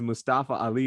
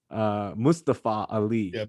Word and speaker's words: Mustafa Ali: So I think everyone says Mustafa Ali, but I think he pronounces it Mustafa Ali, which is the correct pronunciation.